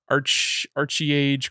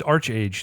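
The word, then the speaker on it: ArcheAge: It's Arch-Age. The second A is Arch-Age. This looked kind of God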